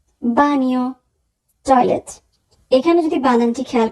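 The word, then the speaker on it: bagno: বানিও, বানিও, toilet. এখানে যদি বানানটি খেয়াল করি তাহলে আমরা দেখব সবার শেষে আছে GNA, GN এর উচ্চারণ হবে নিয়া।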